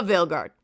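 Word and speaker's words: Veilguard: The Veil guard apparents Dragon AG the vguard not Dragon AG vilard I've been saying it wrong this whole time but the whole thing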